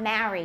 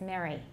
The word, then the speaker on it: Mary: under sentence rhythm go mary mary and it's not marry it's mary there we go go